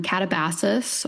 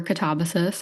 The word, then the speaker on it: Katabasis: And today we are reviewing RF Kuang's new book, um, Catabasus or Katabasus. I think you can pronounce it either way.